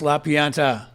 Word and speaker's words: La Pianta: La Pianta. Did I say that correctly? You did. That was wonderful pronunciation. The plant. The plant in Italian, yeah. Not the plant as in I was planted here to like expose you guys. The plant is in the actual botanical.